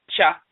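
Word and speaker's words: khaa: So when you look in the language of ancient Kemet, the term spelled and pronounced cha, K-H-A-A, cha, to leave, to forsake, to abandon.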